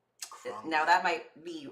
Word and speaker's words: Khruangbin: Okay, it's this band called Khruangbin. Khruangbin. Now, that might be wrong how I pronounce it, but it's spelled like Khruangbin.